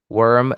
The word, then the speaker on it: worm: Worm and warm. A little different. Worm, it's the same sound as bird.